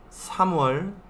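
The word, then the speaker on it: 삼월: Si recuerdan, los números chino coreano, il, i, sam, sa y así, ¿sí? Enero, irol, febrero, iwol, marzo, Samuel, abril, Sawol, así en orden.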